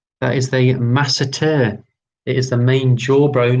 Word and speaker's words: masseter: Now, correct me for my pronunciation. That is the masseter.